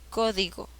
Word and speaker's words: código: mayor fuerza de voz código código co lleva la mayor fuerza de voz en la ante penúltima sílaba es esdrújula y según la regla todas